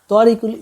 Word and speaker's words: Tariqul: Suppose I am Tariqul, my name is Tariqul, but in Bengali it's I pronunciate it Tariqul. Actually, if I want to write it perfectly, it would be Twariqul.